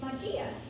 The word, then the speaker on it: magia: first one is magic so in english magic is spelled m-a-g-i-c well in spanish magic is majia so i would say m a g i